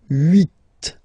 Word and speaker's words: huit: Okay, then here final T is pronounced, so huit, huit. Remember in French this H letter here, okay, doesn't exist phonetically, so we don't really pronounce it.